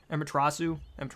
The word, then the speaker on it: Amaterasu: Amaterasu, that's how you say it, Amaterasu.